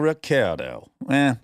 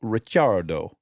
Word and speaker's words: Ricciardo: Daniel Ricciardo, which if you were in Italy, you would pronounce it Daniel Ricciardo because it's got two C's. But he is an Aussie, so he says Ricciardo.